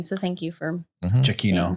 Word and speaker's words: Giacchino: I also get some of those things in Lost, which is Michael Giacchino.